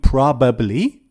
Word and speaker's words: probably: no one says prob this word has two pronunciations you can say probably probably or you can say probably so you can pronounce it with three syllables probably or you can pronounce it with two syllables probably probably but we